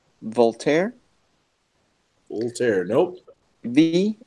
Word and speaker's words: Voltaire: is no how do you say the name Voltaire wheelchair nope ve o LT AI R II